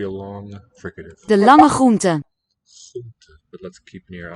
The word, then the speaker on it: groente: one of the most fascinating questions about Dutch pronunciation to me is the many variants of the R phoneme. Here it's after the laryngeal ch, that real deep guttural one.